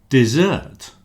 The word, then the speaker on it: desert: But there is a third word desert with one s but the stress on the second syllable desert means to abandon.